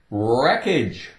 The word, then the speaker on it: wreckage: Wreckage. Wreckage. Take away the W, no sound. Well, the W is still going to be there, but it's silent.